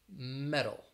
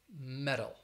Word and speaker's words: metal: between two vowels again when i say the word listen for that d sound italy or metal metal it has like a d the other words uh